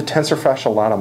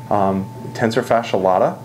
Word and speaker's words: tensor fasciae latae: a little muscle right here this is the tensor fasciae latae muscle okay you'll hear pronounced a couple different ways tensor fasciae latae is right here and the reason they call